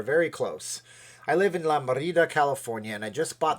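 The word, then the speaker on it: La Mirada: You have to say it like La Merida.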